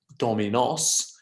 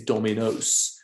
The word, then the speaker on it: dominos: know dominos puertos etc that's a long o right it's not dominos it's dominos right so that's one that's